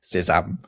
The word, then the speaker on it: sésame: You can scotch that quite easily by pointing out that sesame in French is pronounced sésame.